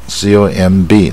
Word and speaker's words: comb: 说数字啊。COMB 它 COM 啊，它 B 也不发音，所以不